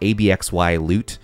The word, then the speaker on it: Abxylute: here we have absolute apparently it's pronounced like that abxy loot absolute they're making a cloud